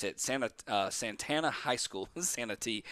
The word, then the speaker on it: Santee: Santee. It's Santee, Santee. I pronounced that okay.